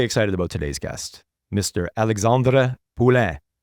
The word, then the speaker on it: Alexandre Poulin: Alexandre Poulin. I used my best French accent for that. From this point forward, I would have butchered that. From this point forward, it'll be Alex Poulin.